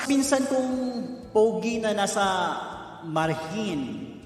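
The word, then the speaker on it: Margen: And sa pinsan kong pogi na nasa Marhin, right? It's spelled as M-A-R-G-E-N. So, it pronounces Marhin.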